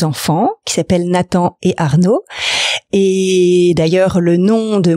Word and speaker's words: Arnaud: Cédric, j'ai 2 enfants qui s'appellent Nathan et Arnaud. Et d'ailleurs, le nom de mon entreprise, Laboratoire Nao, vient d'un jeu de mots avec le prénom de mes 2 garçons. D'accord. Puisque Arnaud s'écrit A-R-N-O.